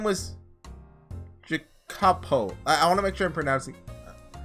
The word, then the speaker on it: Jacopo: His name was Jacopo. I want to make sure I pronounced that right, so let me look it up.